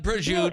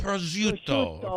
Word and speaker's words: prosciutto: Give me some prosciutto. It's not prosciutto. It's right. prosciutto. Prosciutto. Prosciutto. Perfect. You said it. Yeah. Prosciutto.